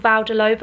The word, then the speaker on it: Vale de Lobo: we were staying so we stayed in a place called val de lovo i think that's how you say it um in portugal